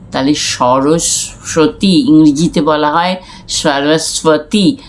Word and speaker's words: সরস্বতী: সরস্বতী ইংরেজিতে বলা হয় সরস্বতী যখন বলা হচ্ছে তখন এই বটা এই বটা বাংলায় সাইলেন্ট ব এটা উচ্চারিত হয় না আর সরস্বতী হচ্ছে বিনা